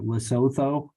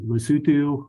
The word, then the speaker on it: Lesotho: Um which I was always calling it Lesotho cuz that's how it's spelled, but Lesotho which it's kind of weird.